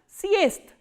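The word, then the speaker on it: съезд: So, what happens when a voiced consonant comes in the end? They are pronounced as their voiceless counterparts. So, what is the voiceless counterpart of z? This is s. And what is the voiceless counterpart of the? Is the. That is why we are pronouncing this word as siest.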